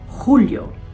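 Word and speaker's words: Julio: At dahil J ang first letter ng mga buwan na ito, ang pagbigkas nito ay parang malalim na H. H. Hunyo. Hulyo. Huwag kalilimutan ng hagod.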